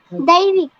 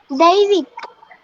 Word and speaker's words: दैविक: दैविक. Again? दैविक. Devi. दैविक. Can you spell it?